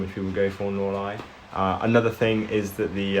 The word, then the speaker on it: North Leigh: description you know the the name of the layout sounds like it's northly it's actually nor lie um it's pronounced nor lie junction the reason for